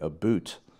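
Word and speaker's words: about: We wanted you to say a boot. Oh. Okay, yeah, it's very Canadian.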